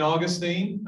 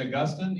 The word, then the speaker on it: Augustine: So St. Augustine, or some people pronounce it St. Augustine. Either way, we're going to take it because I don't want to argue about it.